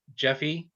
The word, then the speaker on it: Jeffe: Today we have Jeffe, correct? Is that how you pronounce it? Yes. Yes. Jeffe Kennedy.